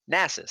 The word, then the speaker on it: Nasus: after my pronunciations, man? Okay, is it Nasus or Nasus? Nasus.